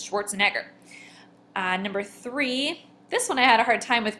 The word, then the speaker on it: Schwarzenegger: Arnold Schwarzen Edgar. There's two stresses. Schwarzenegger.